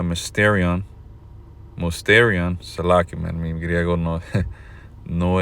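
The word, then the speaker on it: μυστήριον: palabra griega para misterio, que en el griego se pronuncia mysterion, salaki, mi griego no, no es bueno. But anyway, mysterion. Salaki, hay que dejar que el diablo lo pronuncie. Strong's G 3466, Musterion.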